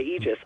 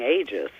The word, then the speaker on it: aegis: book you say Aegis I say Aegis I say ages but Aegis tends to be the product of the first pronunciation usually listed in dictionaries but you're certainly fine saying ages and then there is